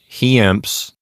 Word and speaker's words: hiemps: Those do not form a diphthong, so we should give each one its own syllable. And then we have an M and an S. So some unusual letter combinations here. I pronounce it heamps.